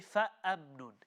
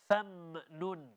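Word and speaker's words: فَمِنْهُمْ: We don't say fa'amnun. It's fam. Fa mim fatha fam. Famnun. Okay, again, this comes with slowing down the pronunciation.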